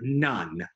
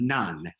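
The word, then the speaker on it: none: o says aw and the e is silent so we can't sound it out so we just have to learn it this is the word nun what's the word very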